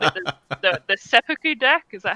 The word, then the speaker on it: Seppuku: I called it the Seppuku deck. Is that how you pronounce it? Oh god, that's funny. Yes. Seppuku.